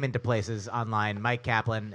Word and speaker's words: Myq Kaplan: name into places online Mike Kaplan it's spelled my yq k a p l a an put that into I've